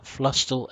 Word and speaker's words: Flusstal: look mapped all I'm I believe it's pronounced flush still XXL hopeful that's correct so this is not